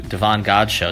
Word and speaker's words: Davon Godchaux: today and getting a chance to talk to Devon God show did I pronounce that correctly yes oh my god I